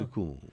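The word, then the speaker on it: सुकून: You just touch it and let it go.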